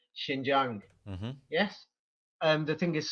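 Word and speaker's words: Xinjiang: uh meaning English and over in China they pronounce it Shin Jang yes and the thing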